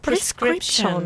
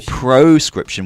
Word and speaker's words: prescription: mistake all the time prescription yeah do you know what that is Sy prescription prescrip no prescription but people say prescription or proscription which has a different meaning Al together very difficult for us